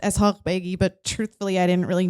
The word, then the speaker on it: Eshaghbeigi: kind of last name if you're curious it's pronounced as Hulk McGee but truthfully I didn't really know that for